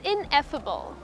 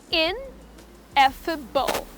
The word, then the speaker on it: ineffable: Beautiful word that I have for you is ineffable. Well, what I have just spoken about few moments ago, can actually be summed up in one beautiful word, and it's called ineffable. The word is pronounced as ineffable, okay?